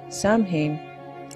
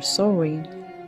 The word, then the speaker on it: Samhain: This October 31st festival was named Samhain or Samhain. Both are pronounced Samhain or Summer's Eve.